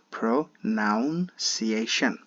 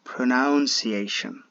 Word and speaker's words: pronunciation: we say it or we pronounce it like this pronounciation it sounds like pronunciation pronunciation it's not accurate the accurate sound would be pronunciation you don't have to